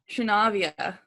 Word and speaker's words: Trinavia: Trinavia. Oh, man. And Kalyazin? Kalyazin. All right. So it's because it's Slavic, so the middle syllables are always emphasized.